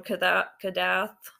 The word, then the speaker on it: Kadath: so if you read the dream of unknown Kadath yeah that's how you say it I know